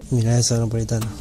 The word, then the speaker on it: Milanesa Napolitana: Milanesa Napolitana.